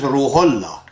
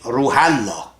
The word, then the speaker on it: Ruhollah: For example, Ayatollah Khomeini in Iran, his name is Ruhollah. And you go and write whose name? Ruhallah.